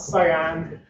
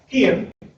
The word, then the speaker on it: Cian: So my name is Cian. I'm a software engineer at Red Hat. Not Cian, not Cian, not Cyan.